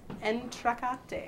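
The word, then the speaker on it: entr'acte: the correct answer is entra I think is how you pronounce it I'm no French major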